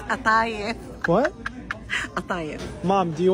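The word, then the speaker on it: قطايف: It's not kataif, honey. It's atayef.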